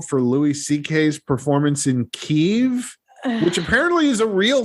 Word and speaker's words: Kyiv: Kyiv, I say, or some people say Kiev, or that's one of the things about all this too, is that everybody mispronounces or differently pronounces everything.